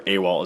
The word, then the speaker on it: AWALT: is a w t or awalt is how I pronounce it and it's used to